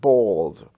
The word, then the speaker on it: bald: uh held weld's family you have bald b-a-l-d the a there is pronounced as or in the in the